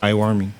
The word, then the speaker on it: Iwami: How you say it? Iwami. Iwami? Yeah.